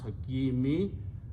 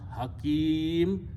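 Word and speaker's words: حكيم: word when you stop you do not pronounce Hakimi the last letter should not be pronounced with the harkat it should be sukoon so you pronounce Hakim and Kari will probably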